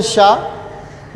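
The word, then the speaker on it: しゅ: लेकिन अगर हम इसको छोटा लिखेंगे तो ये हो जाएगा शू।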